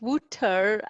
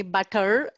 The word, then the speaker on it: Buttar: here uh and i also thank you for pronouncing my surname so correctly most of the people call instead of butter they call me butter and i always take it i take it